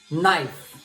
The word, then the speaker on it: knife: No e new, ni, not, knife. Então lembra, quando o K aparece junto com N em inglês, é como aquela pessoa. Tá ali, mas não fala nada.